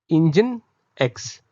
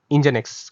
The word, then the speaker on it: NGINX: एक reverse proxy server है, इसको प्रोनाउंस हम करते हैं इंजन एक्स। तो ये लिखा जाता है NGINX, बट इसको प्रोनाउंस किया जा सकता है इंजन एक्स की तरह।